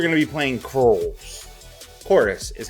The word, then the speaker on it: Chorus: to be playing cruel chorus is how the game is supposed to be pronounced but it's got a v instead of an o like it's some edgy